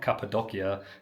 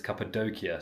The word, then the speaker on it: Cappadocia: It's not Capedokia, it's Capedokia.